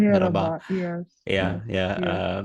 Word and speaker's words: merhaba: And I heard that Turkish more like to say merhaba, not mehaba, but merhaba.